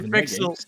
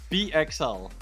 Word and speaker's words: PXL: No, don't say Pixel. Don't say Pixel. Yeah, is it okay, PXL? So you have to pronounce every letter individually.